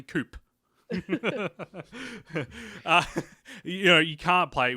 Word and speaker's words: Coup: of coup yeah oh if you don't know how to pronounce it properly coop yeah you can't play